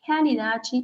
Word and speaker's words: realidade: Outra, realidade menos morta. Bien, esta R, los brasileños tienen muchos problemas con pronunciar nuestra R, que es muy fuerte.